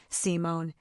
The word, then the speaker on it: Simone: She had said it with a particular emphasis on the first syllable, Simone, in a way that